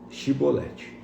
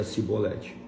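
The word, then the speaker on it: Chibolete: Se o homem negasse, eles o mandavam dizer: "Sibolete." Se ele era de Efraim, dizia cibolete. Pois o povo de Efraim não conseguia pronunciar essa palavra corretamente.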